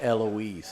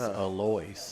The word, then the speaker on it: Alois: No, it's not Eloise. It's Alois. Oh. Gabe. It's exactly as I pronounced it because I know the guy for 25 years.